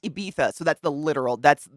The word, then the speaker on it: Ibiza: why I know that song is it it's pronounced Ibiza so that's the literal that's so white people